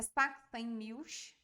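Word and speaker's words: Sachsenmilch: A pronúncia é Saxen Milch.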